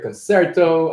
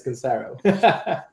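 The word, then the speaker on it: Concero: conera is and uh is that how you pronounce it and yes it is it is it is oh we have so much confusion about pronunciation I've heard them all I've heard concerto I've heard conero and all that but it's conero so basically we're a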